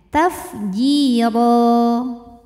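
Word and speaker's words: تفجيرا: dua harakat tafjir huruf ro ini dibaca secara tafkhim karena harakatnya tanwin fathah maka kita bunyikan rnya dengan tebal ro kemudian apabila berhenti ro hukumnya Mad iwad karena ada harakat tanwin fathah yang diberhentikan cara bacanya dipanjangkan rnya dua harakat tanpa bunyi n tafjiro auzubillahiminasyaitanirjim Bismillahirrahmanirrahim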